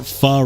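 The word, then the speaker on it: phở: I've seen some fur with I've I don't know why I called it fo.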